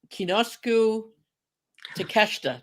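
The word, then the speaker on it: Konosuke Takeshita: Kinosuke Takeshita.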